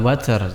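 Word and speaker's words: وتر: walayalin asyr wasyafa'i wal watar. Wasyafa'i itu genap, wal watar itu witir, ya, ganjil. Makanya ada beberapa qiraat itu mengatakan wasyafa'i wal witir, ya. Kalau tidak salah dalam qiraat Hamzah dibacanya seperti itu, wal fajri walayalin asyr wasyafa'i wal witir, ya.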